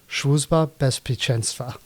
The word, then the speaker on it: Służba Bezpieczeństwa: Of course, as punishment, I will pronounce it in Polish, which is Służba Bezpieczeństwa.